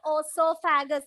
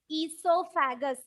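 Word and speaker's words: oesophagus: It is known as esophagus. What is the spelling of esophagus? O G-U-S. Esophagus. It is not osophagus. It is wrong. So here the letter O is silent. So we pronounce it as esophagus.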